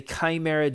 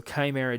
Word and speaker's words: Chimera: This jailbreak is the Chimera jailbreak. And I know people have been having some issues in trying to pronounce the name of it.